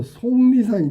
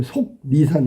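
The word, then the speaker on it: 속리산: 아, 이건 틀렸네요. 이건 비음아서 송리산이 돼야 돼. 송리산. 송리산. 송리산. 자, 6번의 정답은 그래서 2번이 된다. 송 니 어머니는 니 산 이렇게 발음해야 맞는 거야. 지금 속 니산 이거 틀렸지.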